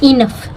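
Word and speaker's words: enough: बहुत ही कठिन था अब इसमें देखेंगे इनफ जी एच मैंने कई बार बताया है जी ए लास्ट में आया तो उसको इस इनफ में जी एच फ है ठीक है रफ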